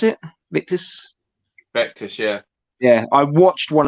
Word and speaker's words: Vectis: You pronounce it? Vectis, yeah.